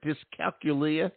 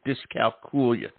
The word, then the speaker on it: dyscalculia: of the pronunciations uh the more common one is discala as though you're saying Julia ah discal thank you thank you discal coolia and was I right